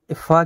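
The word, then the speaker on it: فاء: ফা কিন্তু উচ্চারণ ভালোভাবে দেখে নেবেন। ফায়ের উচ্চারণ কিন্তু উপরের সামনের দাঁতের কিনারা আর নিচের ঠোঁটের ভিজা অংশটা দেখবেন ঠিক উচ্চারণ হয়ে যাবে।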